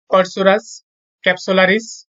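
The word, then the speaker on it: Corchorus capsularis: কাঠের বৈজ্ঞানিক নাম হচ্ছে কর্সুরাস ক্যাপসুলারিস।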